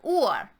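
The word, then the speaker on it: Uhr: how many v feel or or is being said this way because the u almost always makes an u sound in german the h does not change the sound it just makes it longer and the r is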